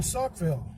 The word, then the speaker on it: Saukville: Because I couldn't pronounce it properly. We are in Saukville.